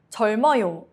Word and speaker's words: 젊어요: 젊어요, young. 리을 stays. 미음 moves.